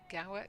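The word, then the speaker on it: Gaur: And I think England with the likes of Izzy Wong and with Michaela Ga Gaw, is that how you say it? From Lancaster, Mika Gore.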